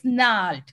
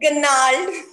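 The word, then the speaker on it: gnarled: I can pronounce it Ganald. Okay. So many times we hear this, Ganald. Okay, then the correct one is second one, Nalt.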